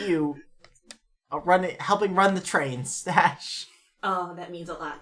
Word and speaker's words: Stash: My name is Stash. It's spelled with an SH, so it's different. It is spelled with it's STH. STASH. STH. It's Stash. But the H is silent. It's just Stash.